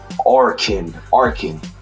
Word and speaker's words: Arkin: Oh, let me say his name properly. I don't want to mess it up. It's Arkin.